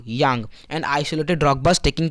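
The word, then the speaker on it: kyang: यहाँ पर के साइलेंट यहाँ बोलेंगे यांग।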